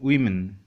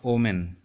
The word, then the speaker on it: women: Women, women. This is plural, women, women, not omen, women.